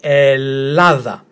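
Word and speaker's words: Ελλάδα: You pronounce them as if though it's one of them. So let's start with the letter E as in get. Then we have letter L as in lip. Another L as in lip. A as in tap. Th as in then. And A as in tap again. So we say Ellada.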